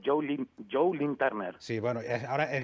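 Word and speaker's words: Joe Lynn Turner: ¿Pero cómo se llama realmente? Turner. Ah, Joe. Joe, es Joe. Joe, y luego, ¿cómo es? ¿Lee o Lin? Lin. O sea, es Joe Lin Turner.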